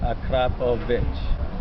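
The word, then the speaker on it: Akrapovič: The full Akrapovic, however you pronounce that. Akrapovic. Say Akrapovic. Akrapovic.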